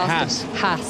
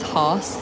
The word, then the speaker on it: Haas: I pronounce it Haas. Haas.